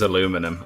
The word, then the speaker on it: aluminium: weird not at all al or minion i have no idea why the americans pronounce it as aluminum i have not a